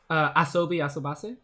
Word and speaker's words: Asobi Asobase: as like, I don't know, how do you pronounce it again? I haven't. That really good show. Asobi Asobase, was that it? Asobi Asobase?